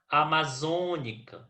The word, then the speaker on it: amazônica: Amazônica. Na palavra amazônica, nós temos a antepenúltima sílaba tônica. Portanto, a amazônica é proparoxítona, certo?